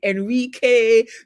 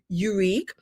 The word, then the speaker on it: Eurek: Enrique, Eurek, I get all sorts of pronunciation, but it's Eurek.